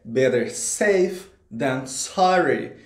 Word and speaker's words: better safe than sorry: Gente, a pronúncia correta é better safe than sorry.